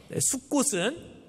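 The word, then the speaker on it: סֻכּוֹת: 이 초막이라고 하는 말이 히브리어로 발음을 그대로 따라서 하면 숫꽃이라는 발음이 돼요. 숫꽃은 이스라엘 백성들이 이집트를 떠나서 처음 머문 장소의 이름입니다.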